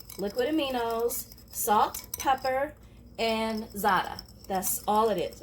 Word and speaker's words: za'atar: Now this is just olive oil, liquid aminos, salt, pepper, and za'atar. That's all it is, or za'atar if you spell it out the American way. But the actual pronunciation is za'atar.